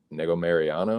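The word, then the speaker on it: Negumereanu: the weight he's uh he's taking on nikolai nego mariano is how you pronounce it but uh here we go dangerous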